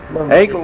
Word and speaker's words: Acle: You see, Acle, which rhymes with Tacle.